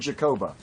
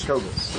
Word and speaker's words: Jacobus: We're at the cross streets of 20th and Jacoba. Yes. Or Jacobus, I believe is how it's Jacobus. pronounced. Yes. Jacobus. That's correct.